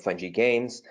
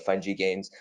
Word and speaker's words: FUN-GI Games: mentioned I am the founder and CEO of fine G gains I know she was pronouncing it funky that's totally cool um you know there's a